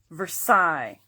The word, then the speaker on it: Versailles: Versailles.